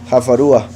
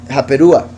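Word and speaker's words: חֲפָרוּהָ: Jafarúa, la F es la misma, es la P. A veces se pronuncia como F, a veces se pronuncia como P. La misma letra, solo que por decirlo así, cuando es pronunciación suave es F, cuando es pronunciación fuerte es P. Entonces, si es la misma letra, pero si pusiéramos la otra pronunciación de la letra sería Japerúa.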